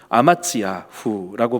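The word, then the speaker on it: אֲמַצְיָהוּ: 아마샤 이름의 뜻은요, 아마츠야후라고 발음을 히브리어로 합니다.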